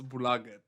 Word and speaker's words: Bolaget: I didn't pronounce it properly the first time, but now I know it's Bolaget.